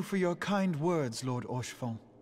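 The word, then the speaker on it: Haurchefant: your kind words lord orshfong or chiffon that's how you pronounce it okay it is true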